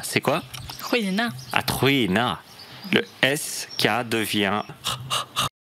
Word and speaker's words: skina: Vous n'aurez pas SK comme vous le prononcerez en français si c'est suivi d'une voyelle. Ce ne sera pas SK. Donc si j'ai par exemple le verbe briller, ce n'est pas SKINA.